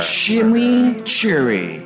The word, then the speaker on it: chimichurri: Wendy's new chimichurri cheeseburger shimmy Cherry that's how you pronounce it let it roll off